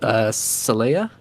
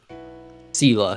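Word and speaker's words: Selah: I think it's pronounced Saleya. Hold on. I'm gonna do a quick Google. Sela, sorry.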